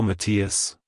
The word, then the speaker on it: Matias: correctly emphasize the first syllable Ma and then quickly transition to the second syllable T finally ending with a quick us at the end like hello Matias goodbye Matias if you